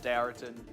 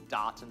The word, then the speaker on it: Daraton: the official pronunciation on Daraton, and it is Daraton. It's not like Darton.